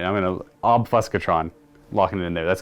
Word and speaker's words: Obfuscatron: He's going to have the Prismatic Obfuscatron. It's supposed to be like obfuscation, but it's like Obfuscatron.